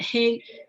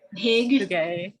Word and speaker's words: hygge: Is it Hig? Hygge. Yeah, Hygge.